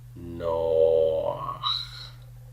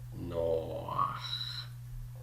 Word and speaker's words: Noach: So ideally, I would have pronounced Noah with just a holam. No, no. But the het forces me to open my mouth a bit to pronounce it. Noach, Noach. And so this furtive pathach sneaks in. So the sequence of the O followed by a very tiny A sound, both of those are coming before the het.